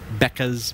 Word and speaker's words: Bekah: So look for Becca Ferguson, and it's spelled Bekah, and same last name as me.